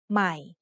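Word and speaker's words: ใหม่: Be careful when reading this word. Notice that there is an initial consonant cluster formed by a silent letter ห อ ห ี บ followed by ม อ ม ้ า This means the word will start with the initial sound m of ม อ ม ้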